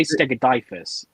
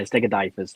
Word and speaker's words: Stegodiphus: Did I even pronounce that one correctly, Jeremy? Which one is it? I say Stegodiphus. Latin. Hold on. Lewis, how did you say that, mate? Typhus. Yeah, Stegodiphus lineatus.